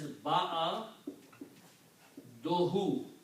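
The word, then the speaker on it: بعده: will be pronounced as ba'a dohu. When you combine a noun and a pronoun, then this ba'adun is pronounced as ba'adu.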